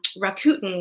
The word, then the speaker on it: Rakuten: the second news item we had was a Rakuten which i think is the right way to pronounce that who sponsors the kobo ereader revealed